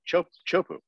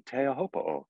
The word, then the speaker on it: Teahupo'o: Would you rather hear me, Chaz Smith, say, "Oh man, so sick, was watching Chopu last night," or "Oh man, so sick, was watching Teahupo'o last night"?